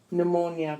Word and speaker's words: pneumonia: ik anomic a mnemonic pn pronounced and pneumonia p and e u mo and IA pneumonia PS pronounced s psychiatrist